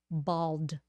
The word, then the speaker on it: bald: tongue's coming back in bald bald ball and bald you have to have the ending sound otherwise it is the same if you forget the D It's both ball okay